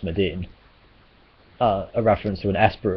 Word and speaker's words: Maduin: The Eidolon, or Eidolon as they say in Final Fantasy XIII, Medine, is a mistranslation of Medine, which is spelled Maduin but pronounced Medine, a reference to an Esper of the same name from Final Fantasy VI.